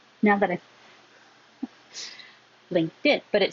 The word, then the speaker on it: LinkedIn: However, if I said LinkedIn, I would be making a T and a D right next to each other. So just get rid of the T. LinkedIn, LinkedIn. The T changes to a D because it's between two voiced sounds.